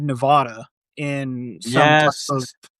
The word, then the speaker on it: Nevada: Wait, Steve, how do you pronounce the state he's from? Nevada.